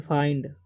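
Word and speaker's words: find: देंगे डी का ड तो फाइंड ओके इसे फंड नहीं पढ़ना है ठीक है और यहां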